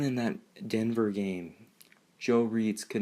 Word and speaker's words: Reitz: But I'm really struggling with is I think Joe Reitz, that's how you say his name, is not a long-term solution at right tackle, right guard.